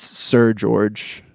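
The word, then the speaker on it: Seu Jorge: It's Sir George in Whatever. Portuguese. Stupid language it's in.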